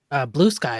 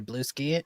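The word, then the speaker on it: Bluesky: Is that how it's pronounced? Blue Sky or Blue Ski? Is it just Blue Blue sky. Sky? It's a funny little joke behind that, but it's definitely blue sky.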